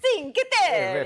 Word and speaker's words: Cinque Terre: I believe it's pronounced Cinque Terre. It is? It's a very popular... It's a very Say popular... it like this in your phone. Cinque Terre.